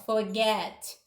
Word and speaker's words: forget: Olha a palavra forget, tem 2 sílabas. Olha a última sílaba, get, a mais forte, forget.